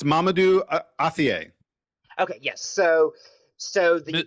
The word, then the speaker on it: Mamadou Athie: not that it's not that tough it's it's Mamadou Athie Okay yes so so the Mr.